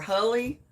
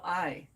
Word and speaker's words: Huli: And I had to look up to see how it was pronounced because I didn't know if it was Huli or Hully or how you pronounced it, because it's Huli.